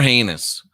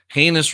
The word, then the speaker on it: heinous: yeah and they are heinous heinous rhymes with anus maybe that's where she